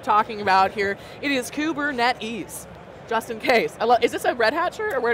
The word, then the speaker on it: Kubernetes: there so in case you're wondering how to pronounce the name of the platform that we keep talking about here it is kubernetes just in case is this a red Hatcher